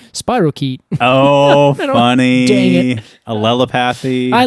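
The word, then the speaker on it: spirochete: I know I know what is it spirashetti and I said I I just like pronouncing it that way and everyone's like I'm pretty sure it's like Spiral key oh funny I like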